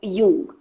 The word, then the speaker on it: Jung: Jung spelling Jung. J is silent, so we call it as Jung.